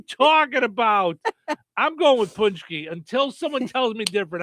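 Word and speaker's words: pączki: Look, break down the pronunciation because the spelling is confusing. Punchki. PKI. Punchk. Easy.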